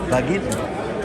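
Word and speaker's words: Vagnino: Bagin. G is silent.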